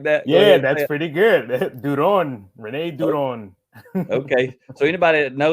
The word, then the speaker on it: Duron: So Rene, I'm gonna go ahead and introduce you, but it's Duron, something like that. Yeah, that's pretty good. Duron, Rene Duron.